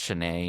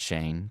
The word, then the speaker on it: Shanae: Although, John, it's pronounced Shanae, not Shane.